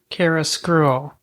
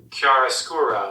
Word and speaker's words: Chiaroscuro: Chiaroscuro. Whatever, however. Chiaroscuro. There you go. All right. You want to, how do we pronounce Roald Dahl?